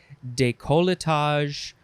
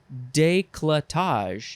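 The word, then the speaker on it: décolletage: decollate next is de colitage de calatage or you can say decolletage or you can say what are we combining things here declutage you can also say that decolletage but that's removing a whole syllable it is spelled d-e-c-o-l-l-e-t-a-g-e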